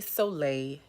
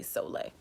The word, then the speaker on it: Soleil: to my channel yes my name says so leel but it's really soleil yes it's a french word it means sun yes my mommy mixed up the i and the e so my name is spelt so leo but it's really soleil that's the way you're supposed to say it what's up y'all